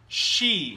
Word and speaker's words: she: She. Ah, các em nhìn khẩu hình miệng của thầy Kasey. Kasey, how to pronounce sh?